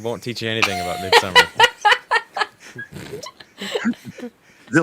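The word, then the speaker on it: Midsommar: it's m-i-d-s-o-m-m-a-r so it's mid-summer it's it's not pronounced any odd way that you guys all seem to think it's mid somar yes okay I'm trying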